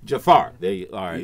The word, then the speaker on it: Jaafar: Mohamad Jaafar. Is that correct? Is that the correct pronunciation? This is very close, or Jaafar. Jaafar.